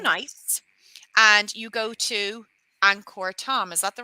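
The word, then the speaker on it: Angkor Thom: here for two nights and you go to Anor Tom is that the right pronunciation zth yes correct here you go one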